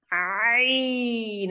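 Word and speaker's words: ع: করতেছি মাত্র দেখানো হবে জি কণ্ঠনালীর মধ্যখান হইতে আওয়াজকে চাপাইয়া আমরা পড়েছিলাম হা এখন হইতে আওয়াজকে চাপাইয়া একই মাখরাজ এখন হবে আইন একদম নাম দিয়ে বলতে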